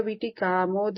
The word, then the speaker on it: वीटिकामोद: श्रीन्यक्कारी रदनच्छदा शुद्ध विद्यांकुराकार शुद्ध विद्यांकुराकारा द्विज पंक्ति द्वयोज्ज्वला कपूर विटिकामोद समाकर्षि दिगंतरा। कर्पूर विटिकामोद समाकर्षि। वो वीट को लॉन्ग प्रोनाउंसिएशन, वीट। कर्पूर वीट। यस, कर्पूर वीटिकामोद समाकर्षि दिगंतरा।